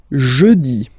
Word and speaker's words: jeudi: Next one, jeudi. Jeudi. Remember, when you combine this E-U, you get the sound E.